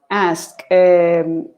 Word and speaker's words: ask: Ask is like asco. Be careful. The pronunciation is like, you can think of asco. Ask. It's very strong.